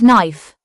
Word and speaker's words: knife: KN makes the n sound with a silent k at the beginning of words. It is used in words like knife, knee and knock.